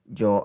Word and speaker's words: yo: So if I want to say I speak, I would say yo hablo. Yo hablo. Now I want to note that yo is meaning I. Spanish speaking people pronounce either yo or yo.